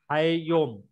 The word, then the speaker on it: Hayom: Hakol Then can anyone pronounce this? Ayom Hayom. Hayom.